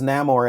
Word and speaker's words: Namor: is it namore neyar well this version is namore and they give a reason why he's pronounced that way because it's since it's m